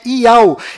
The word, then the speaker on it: Yauh: nome do Criador é Iau, e a última letra do seu nome tem som de H mudo, do qual não altera a pronúncia deste nome.